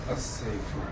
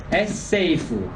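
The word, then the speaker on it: السيف: How should I pronounce this one with L? If I prefix L here, it becomes As-sayfu. as-seifu.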